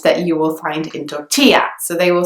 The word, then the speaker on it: tortilla: something inside it so that double L is actually pronounced as it should be in Spanish it makes the sound ye so tortilla instead of totila but then the next